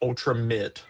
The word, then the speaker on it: Ultramate: It's Ultramate, but it's pronounced Ultramit.